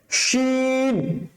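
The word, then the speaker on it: شين: আছে let's try শিন প্রথমটা scene পাতলা করে কায়ের পাঞ্জের মতন আওয়াজ হবে তারপরেরটা শিন মোটা করে শিন শিন তাহলে সিনটা হচ্ছে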